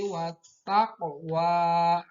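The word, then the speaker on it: والتقوى: Nah, pada kalimat wattaqwa ada qaf yang mati. Maka karena ini qaf merupakan salah satu huruf qalqalah, yang mana qalqalah artinya memantul. Maka qaf mati harus dibacanya harus memantul. Wat taqwa.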